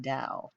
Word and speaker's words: Tao: can see right here it's spelled Tao but it's pronounced Dao he found its guidelines